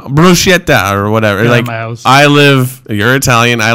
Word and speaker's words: bruschetta: you know like uh uh bruschetta or bruschetta it's like no bruschetta i live you're italian